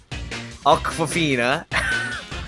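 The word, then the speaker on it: Awkwafina: Aquafina, okay, yes, I did say her name correctly, as Miss Tarantula, or quote-unquote Labs as the hacker, of course.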